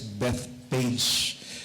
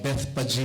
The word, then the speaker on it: Bethphage: Dumating muna siya sa, kung basahin ko dati, ito is Bethpage. Pero Bethphage pala yung pronunciation, or Bethany, para mas madali na lang.